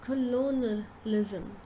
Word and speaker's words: colonialism: So instead of saying colonialism, we pronounce this word as colonialism. Colonialism. Lism. Sound in between. So you say, in fact, you say first. Lo. Ni. Lism.